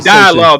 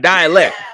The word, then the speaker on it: dialogue: mean dialogue, nigga. See, you said it wrong again. Dialogue, not dialect.